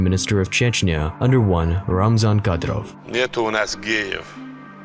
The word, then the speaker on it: Ramzan: Ramzan.